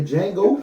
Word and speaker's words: Django: You went to go see the Django for First of all, Jamie? the D is Oh silent.